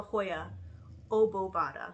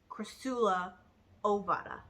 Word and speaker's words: Crassula ovata: I wanted to call it the Hoya obovata, like pronounce it like that, but it's not. It's Crassula ovata. There's no B in there.